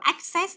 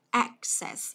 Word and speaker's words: access: Đấy, đừng đọc là access nhớ chưa? Đọc là access.